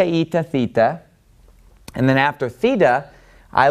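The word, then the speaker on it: θήτα: remember the next three are gonna be Zita eita and theta now you can probably guess why I like to group these three but it's because they rhyme so if I can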